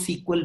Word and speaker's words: SQL: इसको लोग सीक्वल भी बोलते हैं प्रोनाउंस करने के लिए।